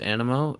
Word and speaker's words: Anemo: fellow guy and and it's pronounced animal it just uh I've just had a a rough time dealing with it being pronounced the exact same way for most of the campaign that being the wrong one but I think that